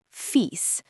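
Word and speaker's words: fils: The L is silent here. So it sounds like fee.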